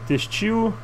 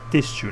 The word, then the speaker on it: têxtil: Textil. Estação de comércio. Pronto. Textil, eu falei textil. Têxtil, né? Mas enfim. Mudei a sílaba tônica de lugar, não importa.